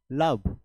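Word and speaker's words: love: এ ভি লাভ কিন্তু এল ও ভি ই আছে অর্থাৎ ও এর উচ্চারণটা এখানে আ হিসেবে আসছে কাম সাম ডান ঠিক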